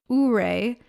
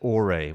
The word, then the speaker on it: Ouray: half a day in Ouray, Colorado. Or is it Ouray? We're not entirely too sure of the pronunciation. We heard several different people from Colorado say it differently, but it is spelled O-U-R-A-Y, Ouray, as I like to say.